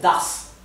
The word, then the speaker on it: das: ese que en alemán se dice das con una aquí verdad das la la ahí no solamente indica que esto se pronuncia una s suave sino también indica que la a ha de pronunciarse larga si hacemos la s por una doble s la a habría de pronunciarse corta does en vez de dases